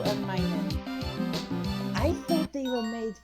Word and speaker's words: Minun: Oh, Plusle and Minun. Yeah, Puzzle and Minun.